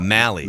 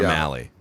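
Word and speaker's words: Mahle: in town and uh uh barrios against tyler mal how we pronouncing that mally tyler mally mally i mean that's you can't get better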